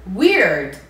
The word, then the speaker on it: weird: Weird. بچه weird has one syllable and one syllable no stress.